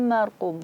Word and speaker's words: marqum: Maka kita mengucapkan ro dengan tebal karena ro sukun sebelumnya fathah. Marqum. Jangan baca marqum atau marqum, enggak, tapi marqum.